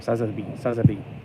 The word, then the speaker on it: Sazabi: And then there's that thing that looks like Sazabi, but it's not. It's something else. Although it's like a mutated Sazabi. Or Sazabi. That's the way you should be saying it.